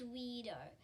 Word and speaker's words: WeirDo: weird my name is weido first name weir last name yep rhymes with go i guess with the